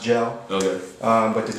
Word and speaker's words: JL: Got rid of the E, still pronounced Gel.